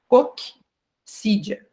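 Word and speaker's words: coccídia: vai falar assim ó em vez de falar Cídia né como se fosse um C só nós vamos falar um C mudo e o outro C como se fosse S então é cque sídia tá hã como vocês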